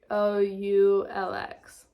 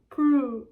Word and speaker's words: Proulx: Proulx. How to pronounce what? Hello. She's listening. Hey there. How can I help? Why is she Australian? They just ignore the X on the end. Prue.